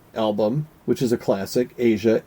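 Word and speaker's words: Aja: which is a classic, Asia, A-J-A. And I think that's how you say it.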